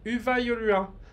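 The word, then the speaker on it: Hyvää joulua: Les Y, ça se dit U. Et les U, ça se dit OU. Pour chercher à faire compliqué. Donc, Uva Yolua.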